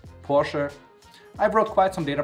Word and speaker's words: Porsche: and by the way the correct way to pronounce it in german is porsche i brought quite some